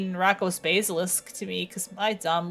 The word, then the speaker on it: basilisk: I said I said basilis instead of Basilisk dare